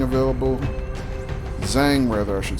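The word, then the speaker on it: Zhang: blast pop is our lead heavy we got Jiang available Zang rather I should say it's not Jane the same age is silent it's a bad habit of mine um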